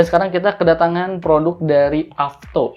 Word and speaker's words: AFTO: kita kedatangan produk dari avto ini bacanya avto Alfa FT lainnya avto ya yang pertama ini ada